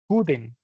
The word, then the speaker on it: could: If you want to put it in negative, she could not or the contraction, she couldn't play the piano when she was younger. We don't pronounce the L could.